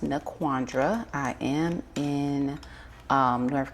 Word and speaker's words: NaQuandra: So, um again, my name is pronounced Naandra.